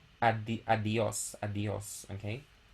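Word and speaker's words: adiós: not mistaken so adios so instead of producing two separate vowels we pronounce them as one so adios adios okay so it's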